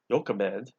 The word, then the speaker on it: Jochebed: His mother, Jochebed, how it looks to be pronounced, married his father, Amram, and she was also his aunt, Amram's aunt.